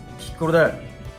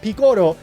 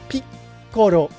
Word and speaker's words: Piccolo: Perhaps the key point here that a lot of native English speakers might miss is the double consonant in the middle of the word. Piccolo. It's not Piccolo, it's Piccolo.